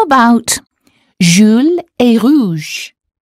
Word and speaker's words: rouge: There's a U in Jules, so the sound should have been U, and there is OU in rouge, so the sound should have been OO. Jules est rouge.